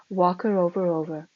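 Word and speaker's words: Whakarewarewa: Passing Sulphur Point, we came to Wakarovarover, pronounced about like this, Wakarovarover, whose sulphur fumes from the numerous mud-holes we had seen rising in the distance yesterday.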